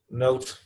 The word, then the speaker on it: Noot: Alexander Noot, how do you pronounce that? N-O-O-T? Is that Netherlands? Note, yes. Note. He says, our ward is